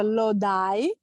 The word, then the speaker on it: Lodi: Salvatore è nato in una piccola cittadina del New Jersey che si chiama Lodi, proprio si scrive così, però in inglese si pronuncia Lodi, ed è fatto per il 99.9% da italiani.